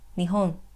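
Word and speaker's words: 日本: followed by the place, which is Japan or Nihon, and then the particle e, and lastly the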